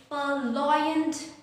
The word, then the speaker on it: Purloined: The Purloined letter. The letter R is actually silent here.